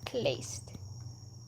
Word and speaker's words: Kleist: Uh in Spanish it's a acento at the end. Kleist. Uh Kle e I don't know how how how else. How would it be to write down that pronunciation? It's just Would it be like clay? No, it's clayced. Cuz it's a some mix of the English and French version of the word cleistogamous, so Like cleistogamous isn't accurate to neither language.